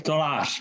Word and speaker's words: Tolář: Jakub Tolář, ne?